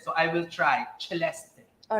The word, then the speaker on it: Celeste: your name properly all right uh it is Celeste yeah that's how you pronounce my name yes they always say that